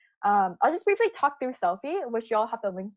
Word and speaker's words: Cellfie: And so that's how Selfie was born. It's called Selfie, CELLFIE, pronounced selfie, like you're taking a selfie, like a picture of yourself.